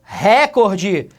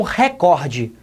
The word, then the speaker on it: recorde: ele bateu o seu recorde pessoal meus queridos esta palavra que ela deveria ser pronunciada como recorde recorde isso porque recorde é da língua inglesa tá recorde em inglês